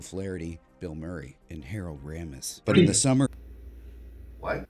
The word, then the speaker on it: Ramis: Gilda Radner, Joe Flaherty, Bill Murray, and Harold Ramis. But in the summer... What? Ramis, not Ramis. This word.